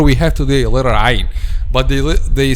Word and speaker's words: ع: Ain, but they said they are saying letter Hamza instead. Okay, like the ayah we said وَتَعْلَمَ الْكَاذِبِينَ, they say وَتَعْلَمَ الْكَاذِبِينَ, but instead of وَتَعْلَمَ they say وَتَعْلَمَ, and this is wrong because this is letter Hamza, not letter Ain. Or say it between letter Ain and letter Hamza, not a clear letter Ain.